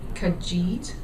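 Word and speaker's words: Kajeet: the company school I'm not sure that I'm pronouncing it right but it's called kajit it's k-a-j-e-e-t for education and so we'll have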